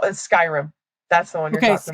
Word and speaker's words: Skyrim: You play War Zone, Rainbow Six, and Am I pronouncing this right? Scrim. Okay. So, I play I play War Zone. I play Fortnite. It's called Skyrim.